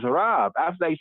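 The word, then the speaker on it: רב: So here he says, Rav. After that, he says, enough, nothing more. Rav, R-A-B, Rav. Sometimes pronounced in modern Hebrew as Rav.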